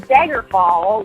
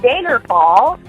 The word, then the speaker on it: Daggerfall: location in Tamriel, and I kept saying Daggerfall instead of Daggerfall, And I didn't hear the difference, but they kept saying that I was saying it wrong because I was saying the A's, like I'm from North Dakota, my A's and my O's.